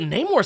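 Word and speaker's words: Namor: here's the thing though so I say his name the way I say it I actually say it a bunch of different ways most people just don't catch it I say name more sometimes but Neymar sounds kind of dumb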